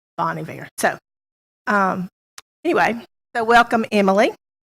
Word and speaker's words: Bon Iver: currently own a there and she said you pronounce it boney there Bon Iver so anyway so welcome Emily and then we